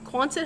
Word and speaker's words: Quonset: I don't even know how to pronounce it though. Kwanzaa. Nope. Yes. Quonset? Quonset hut?